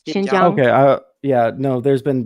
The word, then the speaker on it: Xinjiang: Xinjiang.